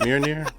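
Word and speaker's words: Mjölnir: Mjolnir.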